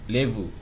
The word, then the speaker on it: lebu: Nah, ini di dalam entry di dalam kamus bahasa Mandar Bapak Abdul Muttalib ini, entry lebu itu memang tertulis lebu, malebu, tapi dibaca levu bukan lebu itu ya.